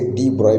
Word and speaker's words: de Broglie: और 1924 में डी ब्रॉगली ने, जिसको सही तरीके से डी ब्रॉय भी प्रोनाउंस करते हैं, तो डी ब्रॉगली